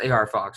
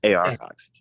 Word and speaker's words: AR Fox: He is trained by it's pronounced AR Fox, right? Yes, AR Fox.